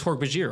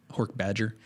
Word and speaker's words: Hork-Bajir: Although I will say I didn't soften that J in Hork-Bajir for the longest time. It's Hork-Bajir, right? What would Yeah. you say? Hork-Badger.